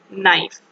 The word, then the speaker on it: knife: is so the um k letter is silent write an essay about